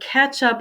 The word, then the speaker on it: catch up: So you notice the pronunciation sounds like ketchup, as in the condiment. So catch up on.